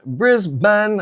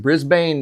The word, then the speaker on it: Brisbane: Great video footage from Singapore, Honduras, Florida, Brisbane. I'm I pronounced it Brisbane the other day and I was very quickly corrected that it is Brisbane.